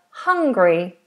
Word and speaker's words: Hungary: We have Hungary. Let me double check this for you. Hungary. Hungary. Hungary. Okay, so let's split it into three syllables.